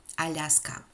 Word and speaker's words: Alaska: russian government in 1867 alaska that's how russians pronounce it some historians believe that